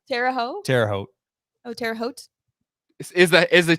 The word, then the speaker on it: Terre Haute: Terre Haute. Oh, Terre Haute? is the T silent or no? No, it's just, Terre Haute? yeah, you just don't really pronounce the T like.